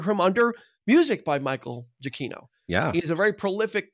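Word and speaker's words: Giacchino: spoilery type thing anyway uh directed by Michael jaino and yes that that is how you pronounce his last name because I watched a video of him saying I'm Michael jaino jaino because I was gonna say Gino Gino chacho it's Michael jaino he and so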